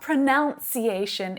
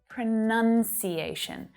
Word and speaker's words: pronunciation: is my friends my family members okay it's not pronunciation it's pronunciation pronunciation if you're a native speaker and you're